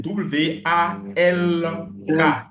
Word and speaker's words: walk: C'est W A L K. Mais les anglais, ils ne prononcent pas le le L. Le L est muet et le H se lit O.